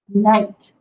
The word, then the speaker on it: night: Night. N-I-G-H-T. Night. Night. So remember that I is a long vowel sound, and then the G-H is silent.